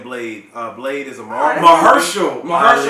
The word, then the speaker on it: Mahershala: Mahershala. That's how you say it.